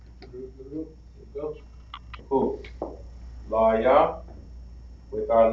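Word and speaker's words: לוי: Now we pronounce Levi in the Hebrew. La ya. Very good. La ya. All right. That's how we write it. Legible. Okay. So Levi is La ya.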